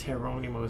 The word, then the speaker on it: Geronimo: I was told that it's Geronimo, so Spanish pronunciation.